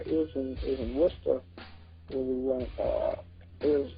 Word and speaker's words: Worcester: the road long enough that you call it Worcester instead of Worcester, which is what I still call it, and I get yelled at all the time. Yeah, because I learned the real way how to say it.